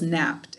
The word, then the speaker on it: napped: napped for an hour now let's see how many syllables napped is can you put your hand on your chin say it for me napped napped hmm i only got one syllable is that what you got all right well you're right knapped is just one syllable all right and that